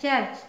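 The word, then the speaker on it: church: mean समुद्र fourth example जब सी के बाद एच आए तो उसका उच्चारण च क या श होता है एग्जांपल के लिए सी एच यू आर सी एच चर्च चर्च means गिरजा घर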